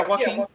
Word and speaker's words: Joaquin: But I know that Joaquin Phoenix, did I pronounce his name right? Yeah, Joaquin.